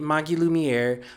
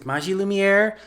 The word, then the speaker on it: Magilumiere: of the Maji lumier manga and I've been pronouncing it Magi lumier but since in the show they pronounce it Maji lumier that's how I'm going to say it from